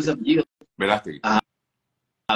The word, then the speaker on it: Verástegui: que ellos lograron como cineasta, Eduardo, ¿cómo se pronuncia ese apellido? Verástegui. A Verástegui y Jim Caviezel, y esa aparición de Mel